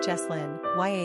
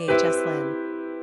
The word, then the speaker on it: Yoselin: Pronunciation, Yahslin, Yahslin.